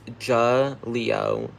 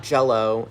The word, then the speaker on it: Jaleo: Like, if you said it correctly, but it's Jaleo. Jaleo. I know it sounds like I'm saying it wrong, but I'm not. No, not Jello.